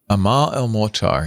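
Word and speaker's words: Amal El-Mohtar: Amal El Molar and Max Gladstone, according to the chat, if I'm pronouncing those correctly, Amal El Molar.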